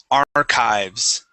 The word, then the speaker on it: archives: last word here man this word is pronounced archives Arch good yes so sometimes the CH the CH makes a k sound archives okay okay very